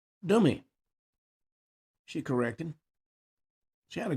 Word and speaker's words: Demi: She clarified how her name is pronounced. She said it's Dummy, she corrected.